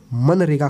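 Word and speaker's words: MGNREGA: rural employment guarantee act दोबारा सुनाओ मनरेगा बोलते हैं जी साइलेंट रहता है ठीक है और यह है नरेगा टेक नगर का नाम बदलकर मनरेगा कर दिया गया था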